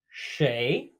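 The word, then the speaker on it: 谁: First of which being shay, shay, kind of like the name Shane.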